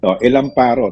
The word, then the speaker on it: Elamparo: Elamparo, tama ka. Yun ang correct na pronunciation, no? Elamparo.